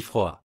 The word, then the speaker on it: froid: En français, on ne prononce presque jamais la dernière consonne. Par exemple, petit se prononce petit, parle devient parle, et froid se dit froid.